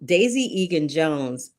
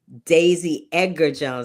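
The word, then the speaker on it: Daisy Edgar-Jones: Um, Daisy Egan Jones, I keep calling her Egan because there's a girl on Broadway named Daisy Egan. Daisy Edgar Jones. I keep saying that child's name wrong.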